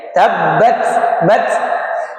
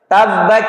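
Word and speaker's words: تبّت: Namun jangan sampai ini ee banyak yang agak kurang tepat dalam pengucapan hamas. Kebanyakan haesnya sampai becek. Tabbac yaada bac. Bac enggak bac ya. Tapi bukan C. Bukan C. Tapi yang keluar hanya nafas. Tabbat bat. Nafasnya saja yang keluar.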